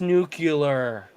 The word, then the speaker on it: nuclear: won't matter very soon it's pronounced nuclear what's the middle of an atom called the nucleus no the nucleus so then what is